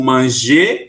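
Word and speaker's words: mangent: Apesar da gente escrever ENT no final, a gente não pronuncia igual ao singular.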